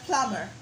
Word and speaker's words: plumber: So the ER in carpenter sounds We have the word plumber. Plumber. The word plumber, remember when we did the silent B? Good. The silent B is there. It's written but it's silent.